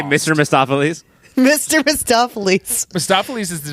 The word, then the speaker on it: Mephistopheles: And I don't know, you got Peter Fonda you said Mephistopheles. That is the way it should have been, but it's Mephistopheles. There's extra syllables in here, they say.